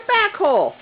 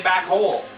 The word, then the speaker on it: backhoe: Not hole. Yeah, I know. Backhoe. It's H-O-E. Ho. You always say back hole.